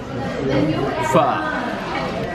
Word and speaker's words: pho: Pho. Pronounce it right. It's pho. Oh, filling.